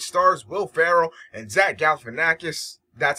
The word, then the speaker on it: Galifianakis: This is OmegaPro, and I just watched the movie The Campaign, which stars Will Ferrell and Zach Galifianakis.